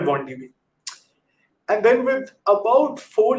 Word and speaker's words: wandb: pip install bond db they actually had a debate on twitter on how to pronounce this i'd be curious to know if others have a different pronunciation of it i call it 1db and then with about